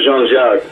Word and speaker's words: Jean-Jacques: It's Jean-Jacques.